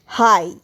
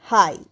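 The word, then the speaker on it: high: হাই এইচ আই জি এইচ হাই। দেখো হাই শব্দতে জি আর এইচ পাশাপাশি আছে। তো জি এর উচ্চারণ হচ্ছে না।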